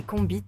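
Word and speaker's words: konbit: tambour illustrait une kbite un mot créole prononcé combit qui fait référence au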